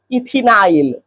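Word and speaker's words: ethenyl: इथिनाइल last का आईल उच्चारण करना है।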